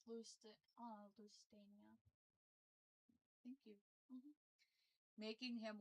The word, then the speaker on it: Lusitania: It's pronounced Lusit- uh Lusitania.